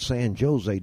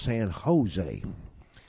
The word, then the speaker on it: San Jose: it's navah hose and that's not San Jose down there it's San Jose and dad said okay